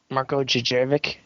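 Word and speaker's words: Djurdjević: How do you pronounce his name? Marco Jervik.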